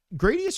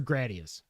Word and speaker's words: Gradius: don't know why because nothing about the way it's spelled says a. Yeah, but a consonant followed by vowel would make the a long. It would. Yeah, like grade. G r a d e. You don't say grad.